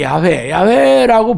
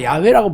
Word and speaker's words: 야훼: 그래서 우리가 지금은 그냥 야훼라고 부르지만 정확하게 야훼라고 불렸는 근거는 없습니다. 후대 학자들이 연구를 한 거예요. 그래서 유력한 발음이지만 절대적인 것은 아니죠. 그래서 우리가 여호와라고 많이 부르는 거는 야훼라는, YHWH, 요 말에다가 아도나이라는 모음을 결합해가지고 여호와라는 말이라고 불렀어요. 근데 야훼라는 말을 부른다는 게 너무 두렵기 때문에 주님이라는 모음, 아도나이라는 모음을 붙이다 보니까 이게 중세시대 여호와라는 말로 불리게 됐던 거예요.